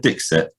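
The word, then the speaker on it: Dixit: to return the favor have you ever played dick set before no oh check this out it's amazing how do i spell that d-i-x-i-t it's not it's not it's not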